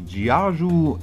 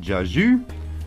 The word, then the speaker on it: Jiayu: to show you the gaju S3 from fcar Tech actually I think it's pronounced jzu anyway it comes in a